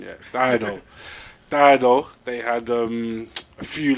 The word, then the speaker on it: Dido: my bad on the pronunciation. Yeah, Dido.